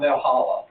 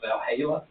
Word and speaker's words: Valhalla: it they all had it's not Bell Hallock but it's Valhalla and uh Shake rag